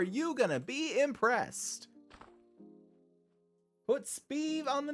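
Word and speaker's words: Sbeve: Put Speeve on the name tag. That's not spelled like that. It's spelled S-B-E-V-E. Steve with a B.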